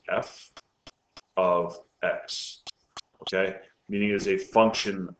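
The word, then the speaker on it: f(x): equal to 2x minus 3 okay this is pronounced f of X okay meaning is a function of X it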